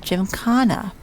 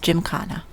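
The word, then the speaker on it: gymkhana: Oh, and I did actually look up it's pronounced Jim Kana. For those of you who remember the first festival that I couldn't say it, it's Jim Kana.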